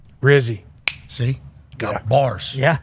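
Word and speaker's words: Rizzi: jop because alar said coach I want rhymes with fizzy dog and that would be rzy see got bars yeah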